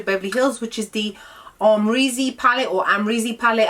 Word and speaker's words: Amrezy: Hills which is the Armory's Z palette or I'm really palette however you want to pronounce it I say amra Z because I'm just so used to saying it I mean he is